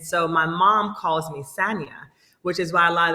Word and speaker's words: Sanya: (both laughing) - So I go by, my whole career I've always gone by Sanya, Sanya Richards-Ross is the pronunciation. But Sanya is not wrong, and that's what my mama calls me, but I prefer Sanya.